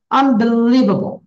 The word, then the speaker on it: unbelievable: You need to give emphasis on leave.